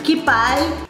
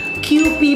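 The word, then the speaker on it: Kewpie: Sinabi ko sa Cooking Ina Show na Kipai. Ito ang brand nitong mayonnaise na to. Kipai. Totoo yon. Kipai. K-E-W-P-I-E. Kipai. Yung pronunciation nito kasi K-E-W-P-I-E. QP pala yung pronunciation niya na tama.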